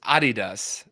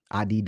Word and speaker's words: Adidas: one you mentioned was Adidas um so like I said I said it Adidas Adidas American said American American make it extremely long they say Adidas right Adidas yeah so